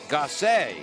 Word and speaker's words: Gosset: Paul Healy along with Ryan Dolinger in his final appearance, and it's Jack Gosset is how we pronounce it, according to Coach Everton.